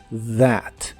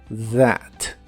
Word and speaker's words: that: that que significa eso la th se pronuncia como una d vibrante that that y usaremos la palabra